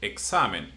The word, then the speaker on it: examen: And then comes examen. It ends in n or n. So the one before the last one is sa, which is examen.